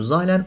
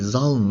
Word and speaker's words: Zahlen: de zahlen kelimesinden geliyor zahlen Almancada sayı demek z harfi de burada Almancadan ithal edilmiş Z zahlen Tabii bunun okunuşu böyle değil Zal öyle bir şey tuhaf bir şey Neyse burada Şuradaki sayılar